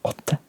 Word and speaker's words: åtte: You can see we've got that letter there again, which is the O sound. So 8 is åtte.